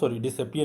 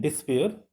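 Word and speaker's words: despair: The poem is a short musical expression of डिसअपियर डिसअपियर नहीं, डिस्पेयर उच्चारण होगा उसका, and detection of the poet.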